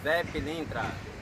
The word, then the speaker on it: Zé Pilintra: Zé Pilintra.